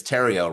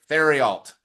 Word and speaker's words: Theriault: And I said, well, stereo rhymes with, or it's Terrio rhymes with stereo.